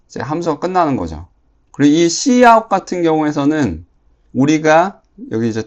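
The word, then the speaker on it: cout: 함수가 끝나는 거죠 그리고이 C 아웃 같은 경우에서는 우리가 여기 이제 터미널이라고 하죠 터미널 터미널에서 글자가 찍히도록 해 주는 명령 중에 하나예요 얘는 이제 소리내 발음하면 C 아웃 이거를 이제 C 아웃으로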